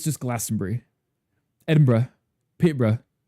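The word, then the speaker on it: Peterborough: Peterbr. Yeah, it's just BR instead of Bur. Even though it is spelled Burr, it's bruh. Bruh.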